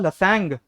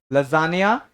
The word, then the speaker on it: lasagna: First वाला word नहीं, दूसरे बैच में थे, एक ने उठ के बोला था लसकने। एक था उसने उठ के बोला था लसैंग। एक लड़की तो बहुत मस्त थी, वो उठी, सर the word is called as लैथजन। मैंने कहा यार सही है, इसलिए आयो यहाँ पे। So the 3 words here are called as lasagna, Wednesday, and Audi.